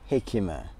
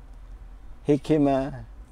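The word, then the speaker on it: jicama: my number three is hikima hikima i know i may be pronouncing it wrong but you know i know that jay is silent so but i you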